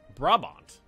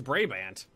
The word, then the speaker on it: Brabant: ] rub up the Brant Brown robot Brabant Brabant there we go Brabant Brabant bra bond how